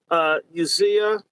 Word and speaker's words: Usnea: It's called Usea. It's spelled USNEA.